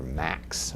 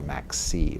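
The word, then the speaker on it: MAXC: access Xerox computer or Max or Max C was sometimes pronounced.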